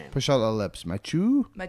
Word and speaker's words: Mathieu: Matt Mathieu Joseph. Mathieu? Yeah. Yeah, just with a just a little bit of a French flair on the first name. out the lips. Mathieu. Mathieu Joseph.